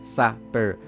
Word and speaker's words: Sapeur: It is right here, Sapeur, and it's pronounced Sapeur. So it's French, okay? It is French, and I took it